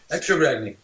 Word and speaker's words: Ragni: Ragni, yeah, you nailed it.